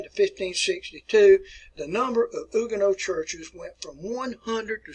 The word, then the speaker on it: Huguenot: are referred to as Huguenots. As Huguenots. If you can't read my writing, that's Huguenots. Huguenots. And the word is pronounced Huguenot. Huguenot. All right, so that was